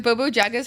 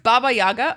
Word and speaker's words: Baba Yaga: okay it's a witchy Adventure game with then Bobo jaga's house I have no idea who that is hi Callie Callie look at your girl look at her I did good this time bro it's pronounced Baba Yaga okay what is it Baba Yaga what is